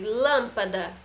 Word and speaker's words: lâmpada: De lâmpada, tem um som mais fechado, se tornando com que essa sílaba seja a sílaba tônica, certo?